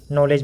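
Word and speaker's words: knowledge: और इंग्लिश में कहीं कहीं के जो है वो साइलेंट होता है, ये इसकी खासियत होती है इस लेटर की।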